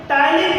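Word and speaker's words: ptyalin: है जिसका नाम है टाइलिन एंजाइम। इसे सेलेरी एमाइलेज के नाम से जाना जाता है। तो देखिएगा, जो टाइलिन एंजाइम है, देखिएगा इसमें पी साइलेंट है, तो टाइलिन एंजाइम क्या काम करता है?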